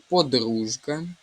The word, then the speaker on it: подружка: Подружка, дужечка і джгутовий. У слові подружка і дужечка буде звук ж. В українській мові звуки не оглушуються, тому тут немає звука Ш.